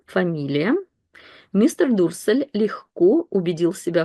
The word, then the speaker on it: легко: On легко, and by the way, that word, I'm sure you know it, but we pronounce it with the х sound. Легко, легко.